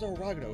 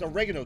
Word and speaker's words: Oregano: always for some reason I always pronounce orago it's oregano desert that's the proper pronunciation of it uh so the goal